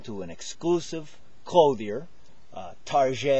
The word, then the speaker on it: Target: an exclusive cloer uh tar it's called you know some people mispronounce it as Target but uh they're probably